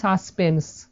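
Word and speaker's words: suspense: এখানে কিন্তু কোনো ইর উচ্চারণ আমরা পাচ্ছি না, আমরা কি বলি সাসপেন্স।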